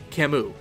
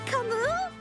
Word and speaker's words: Camus: livestream, which finally yielded us with an official pronunciation, Camus. Oh, hi Camus!